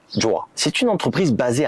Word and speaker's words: Jowua: ce partenaire s'appelle Joa alors ça s'écrit j o W u a et ça se prononce Joa c'est une entreprise basée